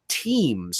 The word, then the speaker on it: Teems: the name of Scott Teems, I think is how you pronounce his last name, Teems, who is relatively unknown in the business, in the larger picture.